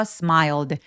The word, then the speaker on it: smiled: SM 같은 경우에는 L 소리로 끝났죠. 그래서 유성음으로 끝났기 때문에 요를 통째로 발음하시면 돼요. 그래서 smiled smiled라고 소리 냅니다.